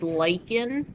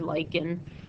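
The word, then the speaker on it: lichen: and the example is leyen that's how you pronounce that word lyen um it grows on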